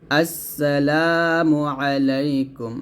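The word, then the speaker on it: السلام عليكم: আবারও বলি আমার সাথে বলেন আসসালাতে টান দিবেন আসসালামু আলাইকুম আইনের চাপ দিয়ে আসসালামু আলাইকুম ওয়া রাহমাতুল্লাহ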